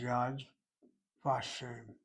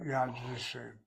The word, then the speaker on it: Yad Vashem: The famous memorial for Shoah in Israel is Yad Vashem, not Yad Vishem, Yad Vashem.